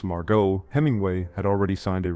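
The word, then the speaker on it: Margaux: Margo, pronounced Margot, Hemingway had already signed a record-breaking $1 million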